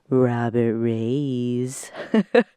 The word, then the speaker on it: Robert Reyes: Robert Reyes. That's how we say his name. We don't actually say Robert. We say Robert.